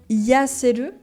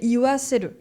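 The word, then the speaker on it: 言わせる: Donc là, on met un W avant. Donc c'est pas, pour you, c'est pas yaseru, c'est iwaseru, pour simplifier la prononciation.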